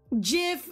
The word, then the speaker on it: GIF: Do y'all say it with a J or do y'all say it with a G? Is it a soft G or is it a hard G?